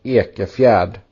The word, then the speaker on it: Ekefjärd: while you're putting his name in the chat, let's hear the pronunciation of Elliot's name one more time. Elliot Ekefjärd.